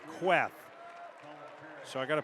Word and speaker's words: Kuath: Talked with Kirk Queth after the game, and his name is spelled K-U-A-T-H, and he told me, he said, it's not like it's spelled. It's not Kuath. It's like an E, Queth.